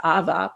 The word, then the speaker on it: Ava: And Ava is one of them, except the Farsi pronunciation is Ava.